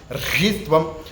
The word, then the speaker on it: ह्रीस्त्वं: ह्रीस्त्वं बुद्धिर्बोधलक्षणा, ह्रीस्त्वं बुद्धिर्बोधलक्षणा, ह्रीस्त्वं बुद्धिर्बोधलक्षणा, ह्रीस्त्वं बुद्धिर्बोधलक्षणा, ह्रीस्त्वं। री नहीं बोलना है, री यहाँ से ह और महाप्राण का और र का उच्चारण।